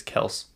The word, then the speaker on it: Kelce: Also, did you guys know we're saying his name wrong? Even he says his name wrong. That's not how he's pronounced his last name. It's Kels. But his dad at work, I guess he started this new job, and everyone called him Kelsey, so he just rolled with it.